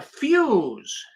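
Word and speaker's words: Fusz: name was Philip I I guess you pronounce it uh fuse f-u-s-z you can see his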